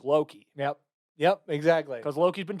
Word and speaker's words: Loki: Loki rhymes with jokey, so it works.